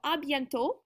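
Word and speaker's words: à bientôt: could do it so abent is our way to say see you soon that's our first one that t on the end is silent and then our uh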